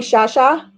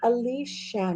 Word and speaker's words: Alicia: in mexico but anyways oh you're going to call me shasha ah you shall pronounce it alicia now you can call me alicia i answer to alicia it's okay um i